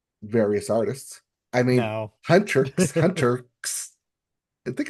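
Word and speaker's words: HUNTR/X: I mean, no, Hunrix. Hunter. I think it's Hunrix as it's pronounced Hunrix.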